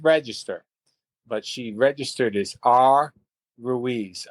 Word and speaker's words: Ruiz: 1980 uh was an interesting one because a lady by the name of Rosie Ruiz and it's uh her name is spelled well it's Rosie and then it's Rui Z.